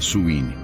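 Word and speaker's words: Samhain: 2000 anos de idade conhecida como samhaim pronuncia suin realizada por povos da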